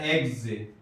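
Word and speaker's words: eggs: چونکہ آخر میں آ رہا ہے اس کا تلفظ سین سے نہیں کریں گے بلکہ زا سے کریں گے، بیگز۔ اسی طرح ایگز، ایگز، ڈبل ای آیا، ڈبل جی آیا۔ اسی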